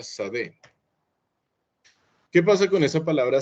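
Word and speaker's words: שדה: La palabra campo en hebreo se escribe así todo bonito y se pronuncia sadé.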